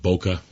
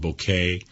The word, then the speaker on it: bokeh: some people call it bokeh some people call it bouquet you know you get